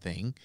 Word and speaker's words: Thang: Now, there is a Facebook page for the Alabama White Thang, and it is called Alabama White Thang, T-H-A-N-G. Don't spell it thing because it's not that. It's a thang.